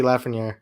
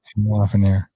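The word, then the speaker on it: Lafrenière: Alexi Lafreniere. Yeah. Lafreniere.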